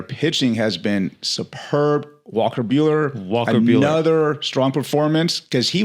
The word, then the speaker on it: Buehler: Bueller, I think Bueller in the movie is Buell, and he sells it Beh. There's an H in his Bueller. Yeah, I think so. But it's a little bit different. But it sounds the same. Sounds the same, yeah. It's pronounced the same.